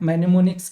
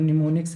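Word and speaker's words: mnemonics: रिमनीसेंस हो गया आपका मैनेमोनिक्स क्या हो जाएगा मेनमोनिक्स बोल रहे हैं मतलब निमोनिक्स हम लोग बोलते हैं ना ये साइलेंट रहता है तो निमोनिक्स आपका हो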